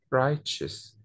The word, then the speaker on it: righteous: الكلمة اللي بعدها كده دي شوية غريبة قوي في النطق بتاعها، right وبعد كده صوت الش، righteous دي شوية غريبة بس هو ده نطقها.